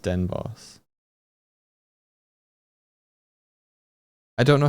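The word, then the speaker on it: Den Bosch: It's pronounced Den Boss.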